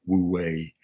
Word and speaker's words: Wu Wei: And for me, when I think of improv and Zen, the non-doing aspect of Zen, how do you pronounce it in Chinese? Wu Wei, is the playfulness of improv.